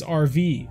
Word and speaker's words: Arav: Bo, my last name, Arav, is said as RV.